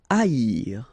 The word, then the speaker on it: haïr: Haïr. Okay, so keep in mind that here you will pronounce it like I. A-ir. First H is not pronounced, okay, so A-ir. Haïr.